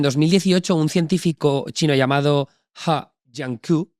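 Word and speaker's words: He Jiankui: Pues esto es en 2018, un científico chino llamado Ha Jiankui, y he dicho muy buena pronunciación. He leído en el Wall Street Journal que se pronuncia así, ¿vale?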